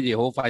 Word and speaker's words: Yehova: Berarti Bapa karena berdoa maka bukan, tetapi hakikatnya sama, yaitu Yehova ya, bukan Yahweh, yang bacanya Yehova yang benar ya.